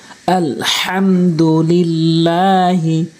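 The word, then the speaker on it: الحمد لله: শুরুতে যে হাটি রয়েছে এই হাটি অবশ্যই হলকের মাঝখান থেকে উচ্চারণ করতে হবে যদি আপনি বলেন আলহামদু তাহলে অর্থ পরিবর্তন হয়ে যাবে আপনার নামাজ ভেঙ্গে যাবে আলহামদুলিল্লাহি আলহামদুলিল্লাহি আমার সাথে বলতে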